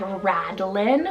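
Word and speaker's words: Radlen: We have Radlin, which is so cool, R-A-D-L-E-N, Radlin.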